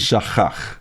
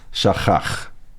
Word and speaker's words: shachach: Shachach. I pronounced it. It's a chin instead of a sin. Shachach.